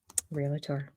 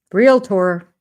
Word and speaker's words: Realtor: Yeah, I I am inverting the L and the A and creating a whole another word that is not a word.